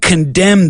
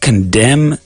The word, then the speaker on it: condemn: Not too difficult, and there aren't many words in the English language that have that silent N.